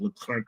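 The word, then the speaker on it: Leclercq: I recently interviewed Frederick L Clerk of Sensanum.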